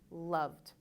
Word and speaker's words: loved: Similarly, for these 2 words, it looks like damaged or loved, but it follows the same rule. These words are damaged and loved.